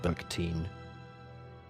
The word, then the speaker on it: Bakhtin: end of this recording mikhail mikhalovich backed in pronounced mikhail mikhailovich bergteen the 16th of november 1895